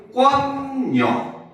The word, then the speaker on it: 공권력: 얘는 발음을 하면 공권력 요렇게 소리가 납니다.